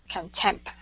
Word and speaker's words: contempt: Contempt. Okay, Contempt. add that T at the very end.